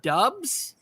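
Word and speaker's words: Doubs: it's good for branding last name pronounced dubs right we got touchdowns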